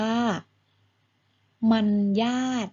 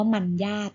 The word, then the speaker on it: มารยาท: อ่าน ว่า อะไร คะ ก็ อ่าน ว่า มัน ยาก นะ ลูก ไม่ ใช่ มารยาท นะ คะ เพราะ ว่า มอ ม้า รอ หัน จะ ออก เสียง ว่า มอ อะ โน มัน อ่าน ว่า มัน ญาติ หรือ หมาย ถึง กิริยา